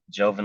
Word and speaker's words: Jovin: reach you at find me on LinkedIn um Joven first name is spelled j-o-v-i-n last name l e z e